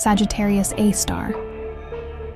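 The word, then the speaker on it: Sagittarius A*: This invisible giant at the center of our galaxy has a name, Sagittarius A, pronounced Sagittarius A star.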